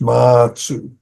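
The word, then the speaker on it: Mazu: Baso is Japanese way of explain uh pronouncing his name. In Chinese it's matsu. Ma ba means horse. Sue is ancestor. So ma is his family name and it's be become is dharm apart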